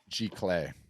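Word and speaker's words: giclée: Or does your company have access to the Gicley printing or G-Clay, yeah. So we integrate. How do you say that? G-Clay.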